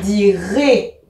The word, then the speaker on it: dirai: les mêmes terminaisons je dirais un i je précise que même si c'est écrit ai on prononce et je dirais tu diras à la